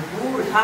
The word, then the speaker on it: बूढ़ा: उसी तरह से बूढ़ा होता है, यहाँ नीचे बिंदु लगता है, उसमें हम लोगों को थोड़ा सा जोर उच्चारण देना चाहिए, बूढ़ा होगा।